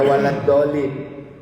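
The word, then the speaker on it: ولا الضالين: Akhirnya bacanya pakai d semua, waladhalin.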